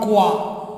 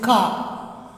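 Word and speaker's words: quatre: 0, 0, 1, une, 0, 1, une, 2, 3, 4, no, it is not quoi, it is ka, 4, 5, is it 5?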